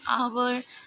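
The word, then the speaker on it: hour: और यहाँ पे एक्सेप्शन क्या है, कि जो आपका कॉन्सोनेंट साउंड है विच इज़ साइलेंट, जैसे कि एन आवर, एन ऑनर, तो यहाँ पे एच जो है वो आपका साइलेंट है, इसीलिए हम उसके साथ में हमेशा आर्टिकल एन का यूज़ करेंगे.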